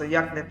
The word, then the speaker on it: Yagnit: It's pronounced Yagnit.